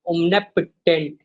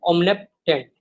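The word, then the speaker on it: omnipotent: The silent orders of ओमनिपोटेंट, ये लफ़्ज़ क्या है? ओमनिपोटेंट, ओमनीपोटेंट नहीं कहना, ओमनेप ओमनिपोटेंट, ठीक है?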